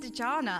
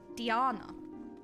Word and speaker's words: Dejana: It was Natty and Dejana, and I realized that I was pronouncing the J in Dejana, and it's actually Diana.